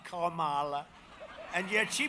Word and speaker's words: Kamala: Kamala. You have to pronounce her name right. It's Kamala, like a comma, Kamala.